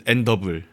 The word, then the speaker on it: AND2BLE: But on the Korean wiki, it's spelled AND2BLE. AND2BLE? Yeah, and then Endable? And then underneath it in Korean it says Endable.